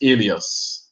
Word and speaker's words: Elias: another way uh but over here in Brussels Belgium it's alios alios um my last name